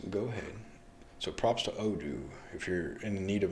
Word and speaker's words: Odoo: Yeah, we have a small business, and we actually just went with WordPress recently, but I was checking out Odo. Odo.